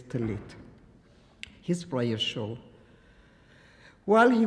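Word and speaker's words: טלית: You would say talissim, but the pronunciation in Hebrew is talit.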